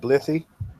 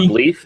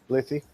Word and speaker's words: Blythe: That's pronounced Blithy. It's not Bleeth. It's not Bleeth. It's not Yasmin Bleeth. Blithy.